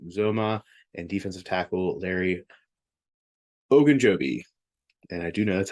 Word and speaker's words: Ogunjobi: Tight end CJ Uzoma and defensive tackle Larry Ogunjobi.